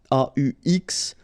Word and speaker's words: aux: at all, and then a plus les will become o, aux, but then remember that phonetically it's o.